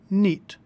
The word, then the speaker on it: knit: Notice that the word knit is spelled with a silent K. All words in English that are spelled with KN at the start are pronounced with an N sound. Nit.